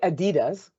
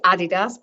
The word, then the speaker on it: adidas: in Europe we say Adidas how do you say it well I say Adidas because I'm British and that's what we